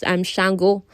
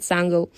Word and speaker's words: Shango: He explained he'd known of her quest since they encountered Shango. Somebody corrected me. So the correct pronunciation for this god, this Orisha, is Shango, not Sango.